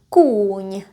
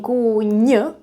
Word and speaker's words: kůň: Usually the consonants that are at the end of the word in Czech are not as strong. So you're not saying kůň, you're saying kůň, kůň. You pronounce it almost halfway.